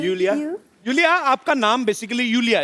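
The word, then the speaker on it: Iulia: Pronounce यूलिया। यूलिया। एंड the spellings are आई यू एल आई ए। सो आई आई you know. I mean why I. Everyone is calling me बट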